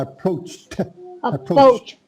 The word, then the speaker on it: approached: the screen there i approached both yeah you got it yeah you got to get that t on the end the e d is like a t a post that's it